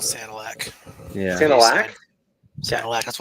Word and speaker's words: Sanilac: Did I pronounce it? I think Santa Lick. To be honest, I haven't really heard too many I'm- people say it before. I'll buffer I've that one. always called Sanilac.